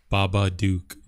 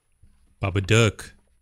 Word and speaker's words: Babadook: the Mr Baba duuk like I'm saying it wrong Baba Duke if it's in a word or it's in a look you can't get rid of the Bubba duck Bubba duck there we go if you're a really